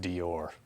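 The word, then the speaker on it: Deore: look it up and I think it's pronounced Dior so I'm gonna go with the or from now on and just to add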